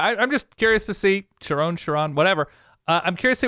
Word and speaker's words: Sherrone: Per the 2007 Oklahoma Sooners pronunciation guide, it's Sherrone. That's what I saw. Sherrone Moore. Sherrone. Yeah, I kept hearing Sherron on broadcasts and stuff, and so